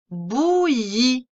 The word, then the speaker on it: bouillie: Une bouillie. Une bouillie. Il y a un E muet à la fin du mot bouillie.